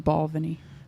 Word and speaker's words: Balvenie: One of Pronounced Balvenie.